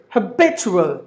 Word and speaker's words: habitual: Okay, the first word, habitual. Habitual. There are 4 syllables in this word, and the syllable B gets more volume because that's the stressed syllable.